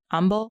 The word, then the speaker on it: umbel: I think it's called a compound umbel. Mm-hmm. Is that how you pronounce that word?